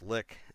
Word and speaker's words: lich: Now, some people argue it's supposed to be pronounced lick. I disagree. I think lick doesn't sound nearly as cool. Lich sounds cool. Lick sounds far, far less intimidating.